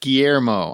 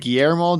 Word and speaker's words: Guillermo: Guillermo. I never. There you go. In his podcast, you'll be able to say his name. Guillermo del Toro.